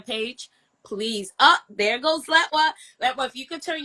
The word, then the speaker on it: Letwa: So, everybody says that and that's okay, but it's actually pronounced Latwa.